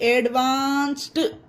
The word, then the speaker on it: advanced: सा आया लास्ट में, इसमें ED जोड़ दीजिए, ADVANCED एडवांस्ड, इसमें भी डी का उच्चारण टा बन गया, एडवांस्ड।